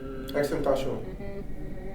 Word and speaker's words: XXXTentacion: XXXTentacion.